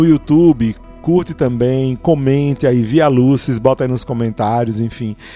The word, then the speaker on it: Via Lucis: O nome é Via Lucis. É assim que se pronuncia, pelo amor de Deus, para a gente não sair pronunciando o latim errado.